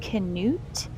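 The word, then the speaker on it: Knut: and told me that it would be pronounced canute, and it has more of like male connotations and doesn't literally mean not.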